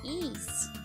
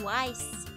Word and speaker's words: Ys: The Y is definitely not like that. Um, well, that's because it's it's the Japanese katakana. It's the E, not wise.